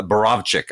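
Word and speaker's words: Borowczyk: valerian boro borowitz ah i can never pronounce his name chick borosh the the famous uh uh exploitation director um uh barovzik i guess is the the correct pronunciation but um this is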